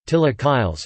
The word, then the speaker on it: chilaquiles: Chilaquiles, Spanish pronunciation, Chilaquiles, from the Nahuatl word chilaquilil, T-I-L-A-Q-I-L-I-T, is a traditional Mexican dish.